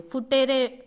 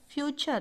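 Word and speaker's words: future: फुटेरे, मैंने बहुत बार सुना है फुटेरे, फुटेरे नहीं होता, फ्यूचर होता है, फ्यूचर, ठीक है।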